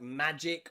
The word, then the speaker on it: magic: together in words like magic or strategic. Okay? Strategy and strategic. Strategic and magic both end in GIC. And nearly always in English, that means that G is pronounced J.